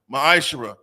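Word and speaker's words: מעשר: It's pronounced ma'ashera.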